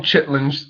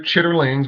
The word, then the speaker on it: chitterlings: We call them chitlings. I know they're chitterlings. We know how to pronounce the word.